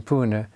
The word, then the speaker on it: Pune: Yeah, Pune, yeah.